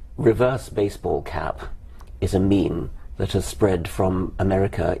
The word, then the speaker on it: meme: a Greek word, "my meme," and I subtracted the initial "mi" and just called it "meme." I wanted something that ideally should have rhymed with "gene," but it doesn't quite rhyme with "gene."